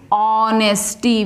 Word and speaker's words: honesty: It is not honesty, it is honesty. We have to pronounce here.